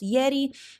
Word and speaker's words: Yeti: down down in the show notes but that's pronounced Yeti it's ye TI I think the website is www.